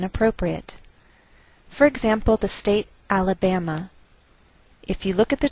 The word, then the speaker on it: Alabama: So the greater stress is on this third syllable. We say Alabama, Alabama.